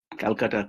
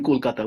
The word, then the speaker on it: Kolkata: thing now we call Calcutta, Kolkata. So I will use the name Kolkata, which is the recent, more correct name. Calcutta was a British accent, British pronunciation.